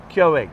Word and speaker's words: Keurig: Keurig.